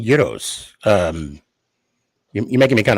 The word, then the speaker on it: gyros: think but yeah no it's it's euros is it actually there's that's I'm Greek I I know what he is it is it actually yours oh I've been saying it wrong my whole life for real oh okay